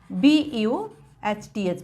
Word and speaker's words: berth: Where E, pronunciation same, BUHTH, birth.